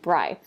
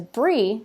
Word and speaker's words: Bri: is the air I Siri likes to think that's spelled or pronounced bry so when I'm trying to tell Siri to do something she refers to me as bright and I have to use that for my own pronunciation if I have my pronunciation in there as Bree even though I spell